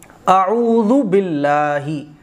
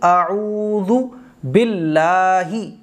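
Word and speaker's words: أعوذ بالله: تو حمزہ جو ہے وہ کھچے گا نہیں، اعوذ باللہ۔ کچھ خواتین جو ہیں پڑھتی ہیں باللہ، تو باللہ نہیں پڑھا جائے گا، اعوذ عین کی آواز نکلے گی، اعوذ باللہ باللہ باللہ نہیں باللہ۔ آگے دیکھیے منش شی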